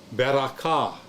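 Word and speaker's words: בְּרָכָה: Second syllable is also open, ra, bera, and then last syllable is your closed syllable. You got your kaf, kametz, long A, and your hey. Okay, there's your sandwich. Consonant, vowel, consonant. Consonant, vowel, consonant. Beraka. Beraka.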